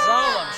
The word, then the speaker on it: Zalem: Zalem.